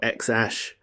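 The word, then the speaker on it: X Æ A-12: In 2020, Musk and Grimes gave us the birth of XA12, pronounced either like a keyboard smash or X Ash.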